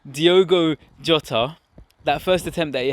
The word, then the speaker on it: Diogo Jota: ask you guys that diego jotto keeps saying his name wrong diogo jota that first attempt that